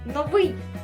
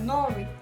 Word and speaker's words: новий: приклад в нас буде слово новий ми наголос ставимо на літеру И ми не кажемо новий ось наприклад Моя матуся